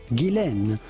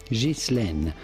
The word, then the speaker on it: Ghislaine: Now the question is on her first name more than anything, which is of French origin. And in French it can be pronounced either Ghislaine or Ghislaine.